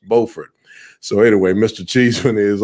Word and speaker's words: Beaufort: carolina friends would want to call that word beaufort but in north carolina it's pronounced beaufort so anyway mr cheeseman is also currently the